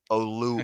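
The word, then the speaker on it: Oluokun: Oluwakan.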